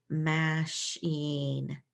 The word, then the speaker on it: machine: So this word doesn't sound anything like the way it's spelled because we've changed so many different things. The A gets changed to an sound. The CH is a sh sound. And then you have IE making an E sound.